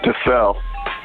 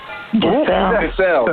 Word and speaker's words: Dissell: Am I pronouncing your last name right? Yeah, can you hear me? No, it's Dissell. Dissell, excuse me.